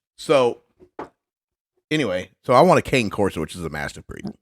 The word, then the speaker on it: Cane Corso: Technically, it's a Cane Corso is how they actually pronounce it. But it looks like Cane Corso, which is what a lot of people call it.